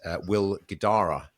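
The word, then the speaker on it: Will Guidara: but the most recent episode is the had Will Gdara that's how you pronounce it the author of the book which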